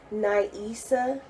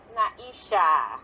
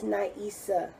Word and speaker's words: Na'Isah: So, Naisha. No, Did I say it right? Naisa? no, it's Naisa.